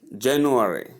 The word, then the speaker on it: January: January, January, January, January. So say all syllables. January, January. That's how you pronounce the word January, not January or January.